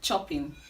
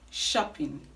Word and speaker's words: shopping: you guys okay now our next word is commonly pronounced chopping i am going to the chopping mold but the right to pronounce this word is shopping shopping shopping so if you're like